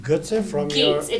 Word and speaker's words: Götze: But your last name, Götze, from Gates, your... it's German. Gates. Yes, and we Not actually... Götze. No, some people pronounce it Getz, Uh-huh. but we, because we're different, we pronounce it Gates.